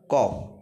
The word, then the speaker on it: cough: she has, she has a cough, COUGH, এটার উচ্চারণ হচ্ছে কফ।